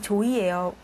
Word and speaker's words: 조이: 처가 양녀 양녀로 이소사이 조이에 사실 이게 한자로는 소사라 돼 있지만 어 한글로는 조이라고 읽어야 되는데 이조이 살고 있죠 근데이